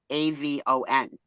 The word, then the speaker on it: Avon: AVON. Avon. With a long first syllable. That's the only way to say it right.